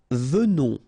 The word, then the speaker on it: venons: Nous venons, okay, so final S not pronounced, and then remember that